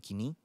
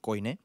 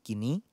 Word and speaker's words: koine: yakni dalam bahasa Yunani kini. ada yang melafalkan Yunani koine, tetapi sebenarnya kalau pelafalan Yunani modern pakai Yunani kini atau Yunani kine dalam bahasa Yunani lebih lama.